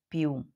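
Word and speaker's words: più: fosse Nossa crase Então quando você vê palavras aqui como perot ti piu e vê o acento contrário essa é a sílaba forte e ele é o som aberto Peró tit piu Pi Piu não é muito aberto né mas tenta falar aberto piu porque também pode falar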